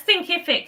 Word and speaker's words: Thinkific: So how do you pronounce it? So it's Thinkific.